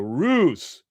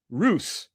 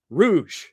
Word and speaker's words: ruse: It's a ruse. Ruse. Ruse. Ruse. Rouge. Rouge. She can't even fucking pronounce the word.